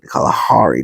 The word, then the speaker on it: Kalahari: um there's a snake oh the Kalahari Desert sorry call Hari desert K that's how they say it anyway so there are